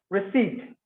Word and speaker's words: receipt: receipt, P silent, I silent. So receipt, C அந்த மிடில்ல இருக்கிற sound வந்து லாங் சவுண்ட்.